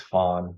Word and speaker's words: Phan: Phantom part so my my birth name is Fawn p-h-a-n and Phantom was kind of always my